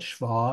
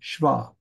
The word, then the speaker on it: shva: is how you write Shah in Hebrew so you have Sha but you don't say sha you say shva the E just doesn't get very much of a pronunciation of it all and so we'll look